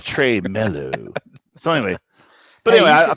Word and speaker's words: tremolo: on it so but is it pronounced tremelo or tremolo who knows i don't know i've never known oh i thought it was trey mellow trey melo it's trey mellow so anyway but anyway